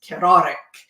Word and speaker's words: Kararik: the judge asked him, he said it was Kararik. He does have a little bit of an accent, and it definitely rolled his R's.